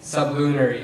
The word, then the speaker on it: sublunary: The concept was irrational to sublunary minds. Can you please repeat the word? Sublunary. Sublunary. Am I pronouncing it correctly?